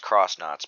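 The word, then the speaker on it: X-Nauts: um really interesting and yes i believe it's pronounced cross knots because they're like it's actually crowns cross knots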